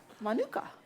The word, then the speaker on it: Manuka: Manuka.